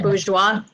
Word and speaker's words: Bourgeois: So, Do you pronounce it Bourgeois?